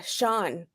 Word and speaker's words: Chan: yeah um but I her name is uh Shan it's pronounced Sean Marshall I think or